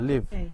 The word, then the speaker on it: live: her live live live هي كفعل ايوه بس هي القاعده انت عم تلفظ على القاعده اللي اعطيتك اياها صح بس ولكن هون كفعل live تمام راح فرجيكم اياها live لاحظي اللفظ live تحيا بين ان تكون تماما انت